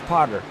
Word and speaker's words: Potter: Did I say Porter? You said Porter. It's Potter.